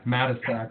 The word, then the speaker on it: Matusik: Yeah, Matisak. It looks like Matusik, so I'm completely fine with Matusik.